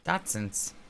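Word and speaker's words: dachshund: dot dot spell it doson I know how it's spelled it's spelled like dashound but I call it doson d d okay all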